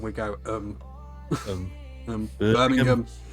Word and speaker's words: Birmingham: Yeah, those sort of Yeah, we don't say the ham. We go things. Birmingham. Birmingham.